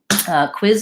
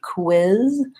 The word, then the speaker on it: quiz: how to pronounce quiz quiz is a word where the qu is not helpful for spelling although qu in many many words will actually be pronounced like this with a K sound and a what sound quiz quiz so that's how you perhaps quiz has a cut it and as his quiz just one syllable okay so we talked